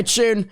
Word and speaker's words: Chune: Oh, and also, oh gosh, how do I pronounce it again? I'm sorry. Call me Tune. Okay, Tune, let's go.